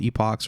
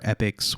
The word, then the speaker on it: epoch: Those are called epochs or epics, whatever you want to pronounce it.